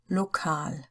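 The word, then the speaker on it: lokal: English and German but each time in English the stress is on the first syllable and in German on the second one so total is total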